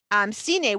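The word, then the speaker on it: סיני: Give me a minute, I'll say it right. Sine, we have a Samak, a Nun, and a Yod for Sine.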